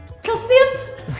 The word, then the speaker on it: cacete: Oh, can you pronounce it? Cassette. Cacete!